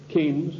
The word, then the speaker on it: Keynes: they said john maynard keynes or keynes he said Keynes was a better word because it arrived with rhymes with brains and this is a